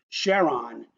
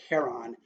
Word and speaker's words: Charon: moon of Pluto called Charon he named it Charon and pronounced it that way because his his wife's name was Sharon so as a homage to his wife he prefers the pronounciation Charon for that moon of